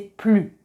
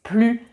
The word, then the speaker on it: plus: Et enfin, si le plus accompagne un nom, on va prononcer plus avec un S, par exemple.